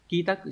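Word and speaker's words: 帰宅: Thất phải đọc là shitsu, không phải. Số 3 là quy trạch, kitaku đúng rồi.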